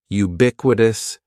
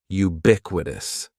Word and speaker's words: ubiquitous: And ubiquitous has four syllables. That first syllable is just like you're saying the letter u. Ubiquitous. And the stress is going to be on that second syllable. Ubiquitous. Ubiquitous.